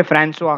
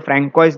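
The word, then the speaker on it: François: इसे फ्रांसुआ कहा जाता है. सो ये वर्ड फ्रैंकोइस दिखता है बट इसको फ्रांसुआ कहा जाता है.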